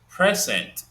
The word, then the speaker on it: present: For example, if I give you the word present, like you're giving a gift, present, these are two syllables. The first syllable is stressed.